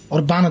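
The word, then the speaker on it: Aravan: सी होंगे अर्जुन पुत्र अरबान देव इटि इरबान आईआर बी एन भी लिखा जाए किंतु एक्चुअल प्रोनाउंसिएशन अरबान देव ना अरबान देव बलिष्ठ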